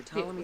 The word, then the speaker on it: Ptolemy: It started with the building, or it started with Ptolemy the First. Mm-hmm. By the way, when I was a kid, I kept trying to pronounce the P. Ptolemy.